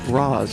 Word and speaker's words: Rosz: Um, and it also helps phonetically uh for people to know how to pronounce Raz R O S Raz Al Ghoul.